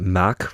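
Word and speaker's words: Mack: It's not mock. It's not really a hard. It's kind of a mach ride. So mock rides. You kind of have to say it like that. Like Roland Mock. So Roland Mach like Mach. I don't know.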